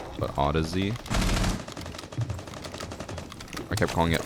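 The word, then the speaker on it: Audeze: It's supposed to be pronounced like Odyssey, but Odyssey. I kept calling it Audi's cuz I thought that's what it was.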